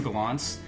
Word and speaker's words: Gallants: Uh, to Galants.